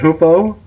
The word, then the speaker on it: Hoopoe: her two previous books in English are Contraband of, and I should know how to say this by now, but is it Hoopoe?